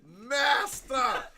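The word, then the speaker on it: Mastah: Master. It is spelled M-A-S-T-A-H.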